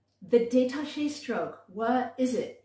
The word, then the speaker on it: détaché: The detaché stroke, what is it? It sounds like the word detached, and it is.